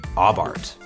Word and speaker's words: Abarth: It's pronounced Abarth.